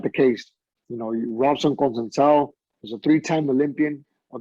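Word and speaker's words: Conceição: I believe it's Conceicao, Robson Conceicao.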